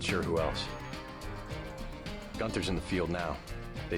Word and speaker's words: Gunther: New York without me Gunther's in the field now they say he wants your head gun I was pronouncing his name as Gunter the whole time heads are starting to